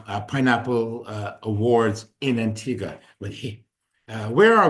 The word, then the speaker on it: Antigua: We frequently give away trips, as we did tonight, to the island of Antigga, but when you look at it, it looks like it's Antigua. It's spelled that way.